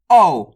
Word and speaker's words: औ: अब चलिए अगला अक्षर देखिए, औ। इसका उच्चारण कैसे करते हैं?